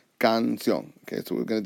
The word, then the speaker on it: canción: However, when I pronounce the word canción, my voice goes up here.